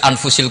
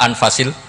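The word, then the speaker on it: أنفس: anut bacaan saya saja di sini ditulis anfusil kutub kalau saya baca anfasil kutub karena maknanya kitab ter baik Kalau kitab terbaik bacanya bukan anfus tapi apa anfas ya nanti kamu debat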